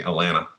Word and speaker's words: Atlanta: If you're from Atlanta, you say Atlanta. Yeah, the T is silent.